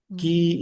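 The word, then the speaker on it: 魏: So Gi is it's pronounced Wei in Chinese. It's like the kingdom of Wei.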